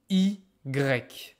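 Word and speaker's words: i grec: half okay oh and the name is e GRE which is completely different than in English you call it Y in French EG which means a Greek I like a I from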